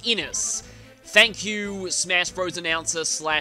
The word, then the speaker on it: Innes: And yes, as of recording this, I now know this is pronounced Innes.